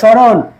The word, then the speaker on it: স্মরণ: প্রবাহিত হয় এই দেখ স্মরণ স্মরণে স্মরণে স্মরণে এই স্মরণ কথাটায় এর মধ্যে যে মফল আছে মফল কোন অস্তিত্ব আছে নাই যখন উচ্চারণ করি সমরণ বলি সমরণ সমরণ বলি মফল উচ্চারণ করি না শুধু তালি উচ্চারণ করি